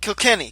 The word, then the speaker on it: Kilkenny: I can't pronounce names. Cli or is it Kilkenny? Kilkenny.